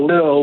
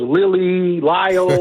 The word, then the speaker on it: Lille: Like, we didn't know much about Lille. Like, I had never heard of it, and even how to pronounce it. I was Lille. We were all over the place. But it's Lille, and it's a really cool city.